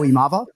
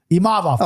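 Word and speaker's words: Imavov: last name real quick dirt nap for the pronunciation of the week oh imav imav there you go see I've always I've always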